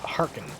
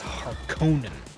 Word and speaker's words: Harkonnen: It kind of bothered me in the recent movie how they were pronouncing it Harkonnen. So it's not Harkin, it's Harkonnen.